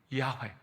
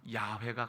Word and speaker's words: 야훼: 그렇게 하게 되어진 거예요 어쩌면 진짜 발음은 야훼가 가까울 수 있다 어쨌든 근데 어쨌든 뭐